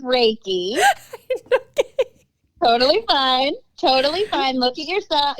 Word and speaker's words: Reiki: What's a reiki? No, it's reiki.